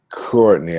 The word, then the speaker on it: Courtney: We listen to the first syllable of our name. And if you hear the k, it's on.